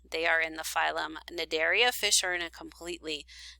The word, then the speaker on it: Cnidaria: So the next phylum we are going to discuss is called phylum Cnidaria, C-N-I-D-A-R-I-A. The C is silent, and this phylum contains your jellies and your corals.